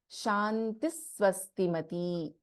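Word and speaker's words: शान्तिः स्वस्तिमती: If you remember the pronunciation rules, this will be chanted as Shantis Swastimati, not the complete Visarga, same as the case of Tushtihi Pushti.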